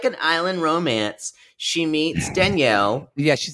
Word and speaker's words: Daniel: Daniel. I keep saying Danielle because that's how he pronounces it. Oh, is that what he said, Danielle? Oh, yeah, okay, that's how you would pronounce it in Spanish.